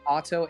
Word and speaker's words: Otto: does sound like awesome it's meant to sound like auto a-u-t-o but it's spelt o-t-t-o oh hell yeah oh